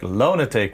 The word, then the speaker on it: Loanatik: I read it as more like lunatic. Like from the word Loanatik, but it's like Loanatik, which actually even better and funnier than the other versions.